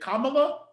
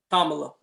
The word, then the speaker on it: Kamala: I saw a lot of people who were excited for is it Kamala? Kamala.